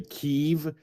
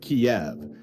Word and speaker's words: Kiev: kind of similar to when news dildos say Keev instead of Kiev and spell it K Y I V. It's like no it's K I V.